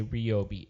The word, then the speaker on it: Ryobi: Yeah, so we're gonna be so Ryobi or Ryobi. It's Ryobi. How do you say it? I say Ryobi. There you go. Of course you do. Good man. Because you're a consumer. No, because it's like my name, well, Ryobi.